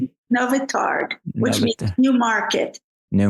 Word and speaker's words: Nowy Targ: Is that how you pronounce it? Nowy Targ, which means new market.